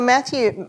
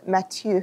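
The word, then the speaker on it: Matthieu: So Mathew, not Mathew. Mathew Bicard who is a French Tibetan monk.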